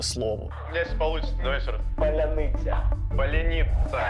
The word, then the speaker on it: Поляниця: ржали з того що росіяни не можуть просто вимовити слово се получится давай Поляниця Поляни Поляниця Поляниця і це дуже швидка ідентифікація свій Чужий